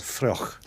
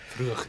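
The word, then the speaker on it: fraoch: And if I've got the pronunciation right, it's called Fruch. Fruch, that's Gaelic for heather.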